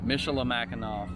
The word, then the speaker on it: Michilimackinac: how do you say the name properly so michela mackinac fort michelle mceloth mackinac was very cool to